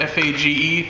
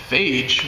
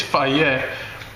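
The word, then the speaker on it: Fage: this brand of yogurt f-a-g-e pronounced fa yeah i saw that online that's the only reason i know that and i was just like phage what the heck's phage it's fayette and this is zero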